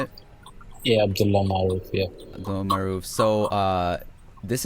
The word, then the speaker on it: Maroof: yeah Abdullah Maroof yeah Abdullah Maroof.